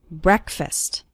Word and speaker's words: breakfast: with an S sound it's not like the word break it's like Breck breakfast or listen to an